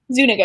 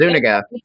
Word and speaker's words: Zuniga: Is that how you pronounce his last name? Zuniga, yes. I pronounced it Zuniga too, so no worries.